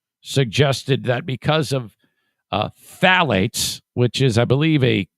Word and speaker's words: phthalates: that article about uh i think i say phthalates it's spelled p-t-h-a-l-a-t-e-s phthalates was completely true phthalates are